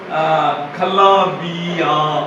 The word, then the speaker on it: כלביא: இருக்கறது எரே வார்த்தை என்னன்னா கலாபியா அப்படின்னு கலாபியா கலாமே பேத் யோத் அல இது அந்த ஆல வந்து சைலன்ட் அதுக்கு அங்க உச்சரிப்பு இல்ல கலாபி அப்படிங்கறது மட்டும்தான் கொடுத்துருக்காங்க கப் லாமேத் பேத் யோத் ஆல கலாபி சரி இததான் இங்க தமிழ்ல என்ன